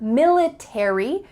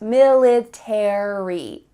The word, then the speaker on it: military: final letters 8ry military in British English they often cut out the a so instead of military it would be military